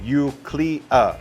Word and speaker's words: Eucleia: And first off, the name is pronounced Eucleia.